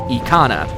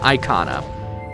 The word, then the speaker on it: Ikana: the Japanese pronunciation, because in Japanese, it's officially pronounced as Ikana, not Icona, so it falls apart.